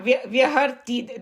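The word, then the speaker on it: व्याहृति: Yeah, Vyaharti. Remember, even I had a difficulty in pronouncing.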